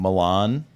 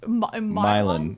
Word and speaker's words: Milan: That's um spelled like um Milan, like Italy.